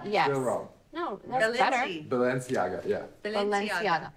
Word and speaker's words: Balenciaga: said she knows no but say Balenciaga she goes Balenciaga Ballers I'm a baller Balenciaga no no that's wrong Balenciaga yes Balenciaga yeah Valencia not Valencia